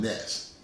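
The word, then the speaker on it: gnats: ponder about if you have a problem with nets and it's not spelled like you would think it spells girl g-n-a-t-s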